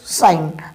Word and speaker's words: sign: तो साइन।